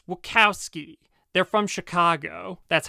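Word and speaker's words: Wachowski: Bigalow and the wowski sisters and it's not wowski it's wowski they're from Chicago that's how you pronounce it also you think this is a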